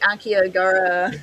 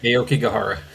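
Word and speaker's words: Aokigahara: And we were we were maybe about like 80 miles from uh the I'm going to pronounce it wrong. The Akiagara Aoki Gajara.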